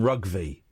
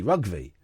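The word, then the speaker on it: Rougvie: And my name used to be Rugby, right? R O U G V I E. But then I spelled it phonetically as well. Brackets pronounced R U G V. Rugby, right?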